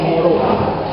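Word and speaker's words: Moreau: His last name is French. So it's written Moreao, but it's pronounced Moro.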